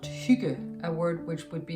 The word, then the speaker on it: hygge: it grammatically speaking since the word is actually pronounced shuge a word which would be impossible for most foreigners to pronounce we completely forgive the dictionary for suggesting that it's pronounced hygge and please make mary with the word by